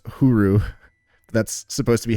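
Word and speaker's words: ホール: Like a slight pronunciation difference. It's cuz it's huru. That's supposed to be how to say hall. Yeah, huru.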